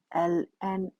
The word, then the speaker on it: ln: it is denoted by Ln X it is read as Ln X it is not i n it is read as l n e l is pronounced